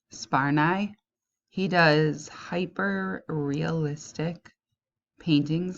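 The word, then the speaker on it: Sparnaay: It's pronounced Yalf. So his first name is pronounced Yalf and his last name is pronounced Sparnai.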